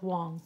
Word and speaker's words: Wang: uh it looks like wang but wang wang it was the same last name but over the centuries it got it got changed and divided up but you pronounce them both wong so i'm airing on